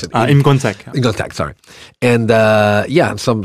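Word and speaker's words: Im Kwon-taek: So I like Kim Ki-young, and I like Im Tak-wook. Sorry, how do you pronounce it? Im Gon-tak.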